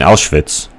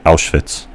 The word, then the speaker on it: Auschwitz: and all my teachers couldn't pronounce Auschwitz. Instead, they pronounced it Auschwitz. And I thought that was really dumb. Auschwitz. Auschwitz. That's not how you pronounce it, dude.